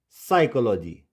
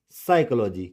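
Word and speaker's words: psychology: P is silent in the combination of PS, PT and PN।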